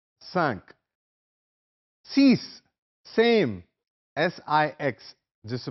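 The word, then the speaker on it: six: एन क्यू आ का स सी same S आई एक्स जिस प्रोनंसिएशन इ डिफरेंट तलफ अलहदा है फ्रांसीसी जुबान में सिक्स को सीस पढ़ते हैं जैसे सीन ये और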